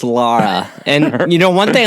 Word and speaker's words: Lara: on our phone call that um Americans always mispronounce her name it's l a r a Lara right right but people like me always say Laura and I don't remember exactly when or where